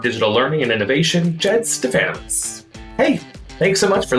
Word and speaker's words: Stefanowicz: But at Stefanowicz 135, and yes, Stefanowicz rhymes with Bananowitz.